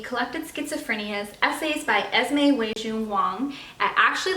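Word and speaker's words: Esmé: Burnie has essays by Esme way June Wang I actually looked up the pronunciation of her name and I know that as me is how her first name is pronounced but the other ones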